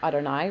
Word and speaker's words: Adonai: sound B familiar Adonai anytime you see two yids together like this um just pronounce it as Adonai we don't know how